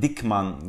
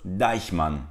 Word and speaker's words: Deichmann: ay gibi Dolayısıyla bu Kelimenin doğru telaffuzu Deichmann Ben çoğunlukla dikman gibi telaffuzlar duyuyorum doğrusu Deichmann dur Arkadaşlar bir sonraki merkezimiz